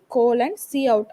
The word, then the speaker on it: cout: இதை cout, இதை coutன்னு pronounce பண்ணணும்.